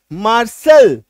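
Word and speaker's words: martial: एम ए आर टी आई एल मार्शल एम ए आर टी आई एल टी के बाद आई ए ठीक है clear हो गया तो अगर किसी शब्द में टी के बाद आई ए आई ई आई ओ ये तीन कॉम्बिनेशन नजर आए तो टी का उच्चारण तालव्य स होता है ठीक है चलो नोट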